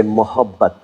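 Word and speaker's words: मोहब्बत: And if you feel being a little more generous and a little more gentle, then you say mohabbat.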